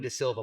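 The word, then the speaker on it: D'Silva: Uh de Silva, my name is spelled r e u b e n.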